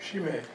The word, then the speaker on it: Chimay: Chimay? How do you say that? Chimay. Chimay, in southern Belgium, the French-speaking half of the country.